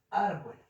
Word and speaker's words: árbol: Ponemos la tilde en la A, ¿cierto? En la vocal, donde lleva la intensidad. Árbol. Y bol, pues como ya sabemos, va a ser la sílaba átona.